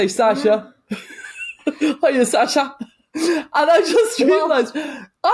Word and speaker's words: Sasha: It's Sasha, not Sasha.